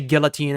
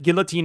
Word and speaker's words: guillotine: Did you pronounce the L and guillotine? Iconic. That is a valid way. I mean, granted, it's less French of me to not to say guillotine instead of guillotine. Yes, but guillotine is a perfectly valid pronunciation of guillotine.